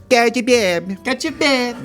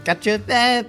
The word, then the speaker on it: cacio e pepe: I don't think that's how you pronounce it. I think it's cacio e pepe.